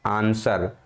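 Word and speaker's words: answer: हिंदी में इसको लिखते हैं आंसर। क्या लिखते हैं? आंसर, ठीक है। तो इस प्रकार से कुछ इसकी हिंदी होती है, आंसर। तो यहाँ पर डब्लू क्या है? साइलेंट है।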